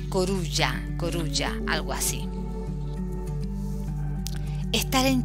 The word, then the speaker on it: coruja: rompe la norma porque se escribe igual pero se pronuncia un poco diferente se pronuncia corulla coruña algo así estar